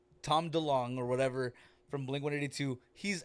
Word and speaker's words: DeLonge: Don't make fun of the way I say his name. I pronounce his name correctly. Tom DeLonge or whatever from Blink-182.